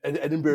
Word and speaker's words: Edinburgh: So Duke of Edinburgh is Edinburgh.